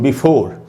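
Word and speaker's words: before: दूसरा वर्ड दोस्तों बिफोर, इसमें भी ई का उच्चारण नहीं हो रहा, आर तक ही उच्चारण हो रहा है।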